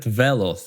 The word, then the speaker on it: Veloth: But, the more interesting part of this is Prophet Veloth, and I'm saying it this way because there is actually an accent on the E.